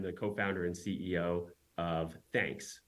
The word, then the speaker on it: Thnks: co-founder and CEO of thanks which is uh thnks pronounced like you know thank you yeah that's awesome okay